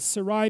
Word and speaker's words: Sarai: by the way or how do you say that i don't know how to say that sarai sarai it's sarai to begin with yes is that right sarai yes okay and then it's sarah and that so abram